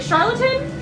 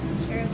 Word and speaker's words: Chaartein: I was like, Charlatan? Sheraton? Sheridan? CHAARTEIN. C-H-A-A-R-T-E-I-N. Sheraton.